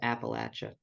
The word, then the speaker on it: Appalachia: It's pronounced Appalachia.